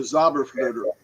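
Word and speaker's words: Zauberflöte: Magic Flute which was the zabber flutter which that's how you say it in German the zabber flutter um his his um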